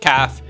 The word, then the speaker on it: CAF: originally the existence of the CAF usually pronounced calf was opposed by the